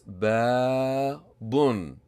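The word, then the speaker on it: بابٌ: We have here a short vowel fatha. We have a long vowel alif. We have a tanween dhamma or two dhammas. Try to figure out the pronunciation. I hope you got it right. It's babun, babun, babun.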